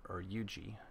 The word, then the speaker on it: Huger: We still have Jackson's Corps here, and also a Huger's detachment, or Huger. As it's pronounced, I believe.